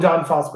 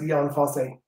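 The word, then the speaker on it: Jon Fosse: book by uh john i call him john foster i think he's pronounced ian fosse he's a norwegian writer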